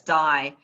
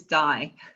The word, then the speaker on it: Dai: name correctly so that's dye uh i know it's spelled differently but it is die oh thank goodness and